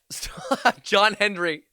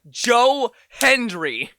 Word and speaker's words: Joe Hendry: But the the big K one, John Henry. Yeti, this is like the fifth time you've gotten the name wrong. It's Joe Hendry.